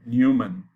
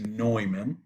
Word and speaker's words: Neumann: people call it the newman which is a german name if you want to pronounce it in german you have to say noiman neumann problem okay so